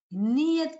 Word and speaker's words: niyat: This, the reason I wrote, because pronunciation is so wrong and we don't understand the words. It is dua niyat ki khair kar.